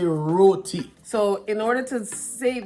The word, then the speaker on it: roti: hear what you're saying but it's roti say roti but we we live in canada and we've